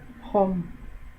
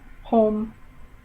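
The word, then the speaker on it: không: no or zero okay it's spelled k h o n g and i don't know why but the ng when it's at the end of a word sounds like an m and it's at the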